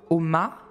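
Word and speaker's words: Ogma: alors, Oma, vu qu'il ne faut pas prononcer le G, je vais y arriver, qui l'a donné, bon, ok.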